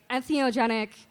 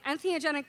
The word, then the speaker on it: entheogenic: So he broke it down. En meaning in, theo meaning God or having to do with God, and gen meaning to create.